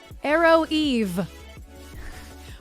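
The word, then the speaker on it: Aroeve: one I found it it's called Arrow Eve but not spelled like arrow and Eve it's a-r-o-e-v-e and it's a little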